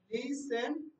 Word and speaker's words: listen: হ্যাঁ, না ওকে, এখানে টি উচ্চারণটা আসবে না, ওকে? লিসেন, LISTEN, তারপর লিসেন, ING, লিসেনিং।